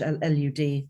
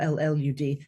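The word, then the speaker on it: Lludd: King L lid it's pronounced in Welsh L lud or L lud liid um and uh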